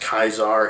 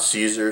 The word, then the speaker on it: Caesar: nobody really knows but it was almost definitely pronounced kaizar in his time not Caesar Caesar is actually a